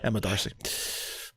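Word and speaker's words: Emma D'Arcy: Emma Darcy. Sorry, I didn't say the D there. Yeah. Emma Darcy.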